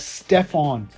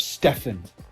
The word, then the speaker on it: Stephen: On the day of the pitch meeting, when presenting Steph's slideshow, they mispronounced his name as Stephon instead of Stephen.